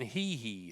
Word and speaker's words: Hee: Well, apparently Carson Hee, and I reckon that's the way you say it, like Michael Jackson. Hee. I was told that's the way you pronounce his name.